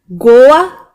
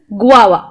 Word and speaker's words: guava: we pronounce it Goa do we pronounce it as Goa no the correct pronunciation is guaa it is pronounced as guaa for example fresh guava is rich in vitamin C and tastes sweet and time okay it is pronounced this guava not as Goa okay this one it